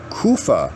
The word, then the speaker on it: Kapha: Kapha, or Kapha, Kufa, see, I was pronouncing that one wrong, is based on earth and water.